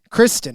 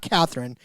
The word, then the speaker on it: Kristen: It's Kristen. Kristen, not Catherine.